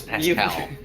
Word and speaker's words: Pasquale: Am I the only one who uses right pronunciation? Yes, Pascal. Yes. He pronounces it Pascal. I know, I'm kidding. He does it wrong too. It was a goofer. He purposely adopts the low town pronunciation.